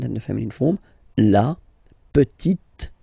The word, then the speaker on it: petite: So I insist because here it's t, t. Okay, so really you need to make the difference between the masculine form petit and then the feminine form petite t.